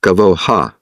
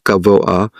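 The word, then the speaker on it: גבוה: It's often pronounced gavoha, but it's really tzorech gavoah, the need on high.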